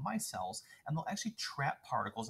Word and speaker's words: micelle: specifically like vinaigrettes they form what's called these micelles is how you pronounce that uh and these hydrophilic heads and the hydrophobic tails will actually form these spherical ball-looking structures called micelles and they'll actually trap particles on the inside